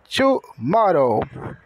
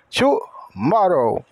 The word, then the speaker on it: tomorrow: la it amanhã tomorrow o t tem som de t o o de u o restante tudo tem o mesmo som da escrit somente o W No final que tem o som de u amanhã tomorrow para nós